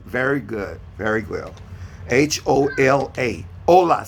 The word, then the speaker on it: hola: good very good h-o-l-a ola say hola yeah so h is a silent you don't pronounce the h my last name is